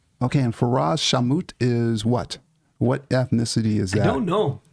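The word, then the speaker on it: Ferraz Shawmut: okay and that is farz did I say it right farz no it's not right farz shamut oh I missed I missed half of it yeah you missed the last name okay and far shamut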